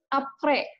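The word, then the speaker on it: après: Contoh yang pertama ada apre, ya. Di sini kan di belakangnya ada S ya, tapi S-nya tidak kita baca, dibacanya apre, ya.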